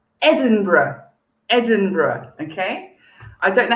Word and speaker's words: Edinburgh: m for mother so it sounds like edinburgh edinburgh very good okay so